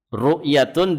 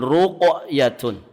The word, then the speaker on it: ruqyatun: Jangan salah pelafalan. rukyatun dengan ruqyatun. Kalau rukyatun itu bacaan-bacaan jampi-jampi tiib itu nanti kita bahas di bab keetujuh insyaallahu taala biidnillahi taala.